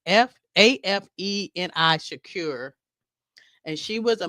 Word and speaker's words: Afeni: His mother was Afeni. I think I'm spelling it correctly or saying it correctly. It's Afeni Shakur, and she was a member of the